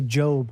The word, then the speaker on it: Job: It's spelled like Job, but people say Job because that's his name.